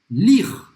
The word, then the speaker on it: lire: Lire. Ler, em francês, você não vai pronunciar o E no final. Lire.